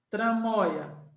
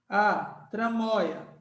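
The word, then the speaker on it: tramoia: Tramóia. Moi. Tramóia. Qual é a sílaba forte de tramóia? Tramóia. Tramóia. Isso aqui é uma paroxítona.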